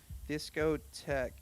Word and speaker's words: discotheque: Discotheque. Yeah, it's disco T-H-E-Q-U-E. It's like thwick. That's weird. Yeah. It's weird to me because it's pronounced tech and it could just be T-E-C-H.